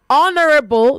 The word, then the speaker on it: honorable: Honorable not honorable. All right. So the H is silent in honor. It is silent and honest. It is silent and honorable.